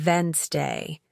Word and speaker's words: Wednesday: For example, you might see the word Wednesday and think it's pronounced exactly as it's spelled, but listening teaches you it's actually pronounced Wednesday.